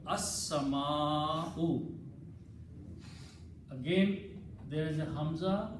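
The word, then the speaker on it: السماء: And in the pronunciation, Seen will be pronounced twice, As. Lam will not be pronounced. So it will become as-sama'u.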